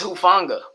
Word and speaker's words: Hufanga: It's Hufanga. Hufanga? Hufanga, probably. Hufanga.